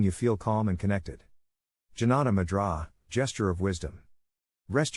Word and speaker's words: Jnana: Jnana, pronounced Jnana, Mudra gives stability, balances the 5 vital elements of the body.